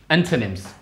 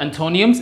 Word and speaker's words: antonym: are similar words synonyms and these are the antonyms okay it's not antonium it's antonym antonyms these are the opposite words